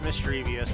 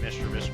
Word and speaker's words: mischievous: It's mischievous, but I always called it Mistus growing up.